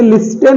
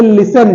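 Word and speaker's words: listen: बसल okay सोर सराब एल आई एस टी ई एन इसे लिस्टन नहीं बोलेंगे इसे लिसन बोलेंगे इसमें टी साइलेंट है ओके एम एटी सी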